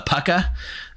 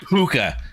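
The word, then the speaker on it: púca: The original pronunciation, the Pucka. I like Puka.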